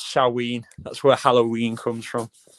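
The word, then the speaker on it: Samhain: Everyone pronounces it Sam Hayne, but it's saw.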